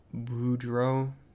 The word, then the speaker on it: Boudreaux: It's French. Boudreaux.